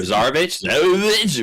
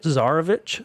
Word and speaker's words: Zarovich: Is my pronouncing that right? Sure, Zarovich, whatever. Zarovich, Strahd von Zarovich.